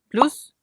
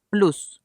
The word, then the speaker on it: plus: positiva de esta palabra vamos a decir plus como si estuviéramos leyendo en español con no española y pronunciando la s pero si vamos a utilizar la connotación negativa en este caso no vamos a pronunciar la s del final y la vamos a pronunciar como una francesa entonces esto algo como